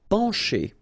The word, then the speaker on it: pencher: Okay, pencher. Okay, remember, E-N, nasal, pan, pencher. Okay, C and H together will produce the sound sh.